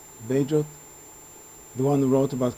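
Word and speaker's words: Bagehot: He cites a quote of, how do you pronounce his name, Bajot? The one who wrote about crisis? Badgett.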